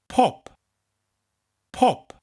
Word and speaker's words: pop: in Welsh it's pop but just really emphasize a second P pop pop the third one is